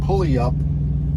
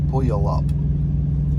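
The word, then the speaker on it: Puyallup: way uh up to pulley up uh washington i don't think i pronounced that well or correctly pulley up p-u-y pull you all up pull you up washington we're taking a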